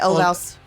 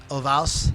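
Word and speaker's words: Ulvaeus: Hey, don't you be How do you say talking his shit name? about Bjorn. I would okay? say Olvaus. Ovals. Olvaus.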